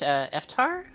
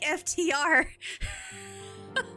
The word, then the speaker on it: FTR: Is it supposed to be pronounced Iftar? Iftar? No. I asked this question when they first showed up. It's pronounced like FTR.